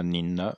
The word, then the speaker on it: 您: Toutefois, en général, la grande majorité des cas, on dira nin et vous. Mais bon, voilà. À l'oral, j'aurais peut-être pu le mettre nin. Si vous l'avez mis, c'est très bien. N-I-N, à ce moment-là, c'est le ton montant, pas le troisième ton.